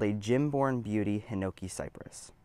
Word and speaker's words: Gimborn: It is called a Gym-born Beauty Hinoki Cypress. Or at least I think it's Gym-born Beauty. It's spelled Gimborn, so Gimborn, something like that.